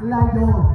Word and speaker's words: Layog: May napansin ako partner ano yung partner ang pronunciation ng ating barangay is layog layo Yes not layo Okay candidates layo not